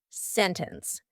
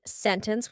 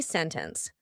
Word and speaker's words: sentence: International winter internet sentence in these words the t is just gone so here we have an NT usually plus a vowel and you're going to say sentence you can say sentence with a t it's fine but you're going to hear native speakers when we're speaking quickly you're going to hear us completely cut out that t sentence winter International internet the